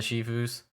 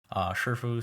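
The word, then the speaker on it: 师父: I hope this also applies to the Mirage moments when you fight some of the Shifus. Shifu, Sifu, however you want to pronounce it. In Chinese, it's pronounced Shifu.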